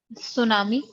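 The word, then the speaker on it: tsunami: सुनामी, T silent.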